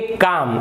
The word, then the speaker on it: calm: एक और देख लेते हैं L साइलेंट का, ये लिखा हुआ है CALM, तो इसे आप काल्म नहीं पढ़ेंगे, आप इसे पढ़ेंगे काम, आप इसे पढ़ेंगे काम।